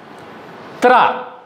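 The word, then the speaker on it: त्र: Tra. Sanyukta second letter is pronounced tra. Tra, which includes ta, ra, a. Three letters.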